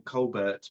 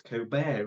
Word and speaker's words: Colbert: I would have pronounced it Steven Colbert, but it's Coar, isn't it?